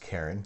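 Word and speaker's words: Charon: dwarf planet its largest moon sharon pronounced karen karen's ruining everything people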